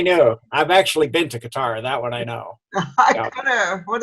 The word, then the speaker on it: Qatar: my life oh really they always also say um what is it cutter for qatar it's really qatar they always say cutter now and i know i've actually been to qatar that one i know